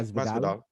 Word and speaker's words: Masvidal: Did I pronounce that right? Yeah, Masvidal. Masvidal.